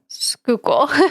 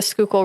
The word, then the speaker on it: Schuylkill: Schuylkill. Okay. Schuylkill. It's a Dutch word that means hidden river. Okay. So Dutch settlers in Pennsylvania named the Schuylkill River in the early 1600s.